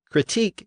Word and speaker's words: critique: the newer version artist the same thing is true for critic and critique again these words come from the same French word which was borrowed twice critic came in about 400 years ago and again the stress has shifted to the first syllable critique came in over a century later and it retains its original stress on the final syllable the same thing happened